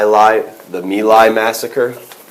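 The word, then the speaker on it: My Lai: should know is the my life the me Lai Massacre I've heard it pronounced both ways but I think it's the my massacre in 1970 and y l a i two words Massacre um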